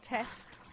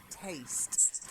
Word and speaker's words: taste: next one taste again this ie sound so not test taste so a taste taste